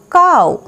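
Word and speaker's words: cow: সি ও ডাব্লিউ এখানে পড়ব কাউ, কাউ, সি ও ডাব্লিউ কাউ। এক্স এর উচ্চারণ দেখো এরকম জ এরকমও হয়।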